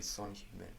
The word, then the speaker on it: Son Heung-min: Son Heung-min.